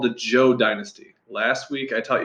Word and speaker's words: Zhou: teach you about the Jo dynasty it does look like it sprouts out but it's actually pronounced Jo like someone's name Jo so the basics here